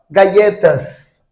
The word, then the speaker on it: galletas: Os dois L's. Galletas. Tá? Galletas. Com som de I, ó. É o som de I. No castelhano. Galletas. E aqui, né? Na América Latina, já, joju, igual o Y, né?